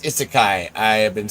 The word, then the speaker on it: isekai: I um also I learned is it's pronounced isekai.